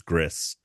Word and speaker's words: Gris: couple years ago yeah um that's how you pronounce that I always thought it was yeah I thought it was GRE yeah but it's it's Gris um or at least that's how the developers